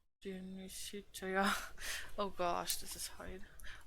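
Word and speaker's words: De Amicitia: We finished Lofi and the Synecdoche, and are now engaged with Dionysitia, pronounced Dionysitia.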